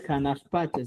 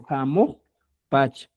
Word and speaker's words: jamoj pacha: No es janaj pacha, sino jamoj pacha.